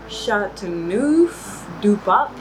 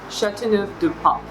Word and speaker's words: Châteauneuf-du-Pape: Châteauneuf-du-Pape. Châteauneuf-du-Pape. So you actually read F at the end. Châteauneuf-du-Pape.